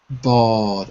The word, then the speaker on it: bald: yeah I think it's silent in this case Bal or but for me it is silent you're right and for me it sounds